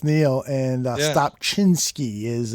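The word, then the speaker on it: Niel: yeah basically it was neil n-i-e-l but it's pronounced neil and uh stop chinsky is uh the pronunciation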